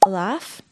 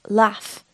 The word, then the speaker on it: laugh: There are actually two normal ways to pronounce laugh in English. The first is laugh, like that. The other is laugh, which is normally seen in the north of England.